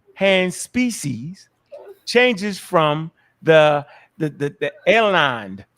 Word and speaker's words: alanine: It says in each case, the left hand species changes from the alanine. Am I saying it right? Alanine, you good. Alanine, the A, right?